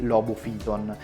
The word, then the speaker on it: Lobophyton: sono stato sgridato perché avrei dovuto pronunciare il nome di questi due coralli alla latina quindi la pronuncia corretta sarebbe sarkozy ton e logo fillon in ogni caso ho